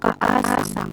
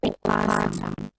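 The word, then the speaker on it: おかあさん: Salah. Bukan asang tapi okasang. Karena apa? Karena ini kan kan yang berakhiran A. Kan ini K. Terus ketemu A lagi. Maka penulisannya akan menjadi seperti ini. Dibacanya okasang. Bukan okasang tapi okasang.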